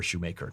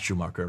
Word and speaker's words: Schumacher: got a problem here, Shoemaker, not Schumacher, that's the German pronunciation.